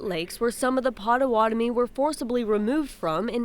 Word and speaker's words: Potawatomi: keepers of trade, and Bodewadmi, now pronounced Potawatomi, keepers of the fire. Anishinaabe lived on the Great Lakes, where some of the Potawatomi were forcibly removed from